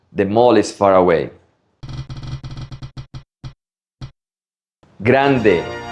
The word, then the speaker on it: grande: Grande, not grande.